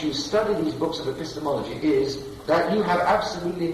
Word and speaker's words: epistemology: Okay, and it's Introduction to Epistemology. No, it's epistemology. Epistemology.